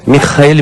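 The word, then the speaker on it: מיכאל: E tanto no grego quanto no hebraico a pronúncia é justamente esta. Michael, Michael. Michael, quando você faz a transliteração para a língua portuguesa, dá Micael e não Miguel.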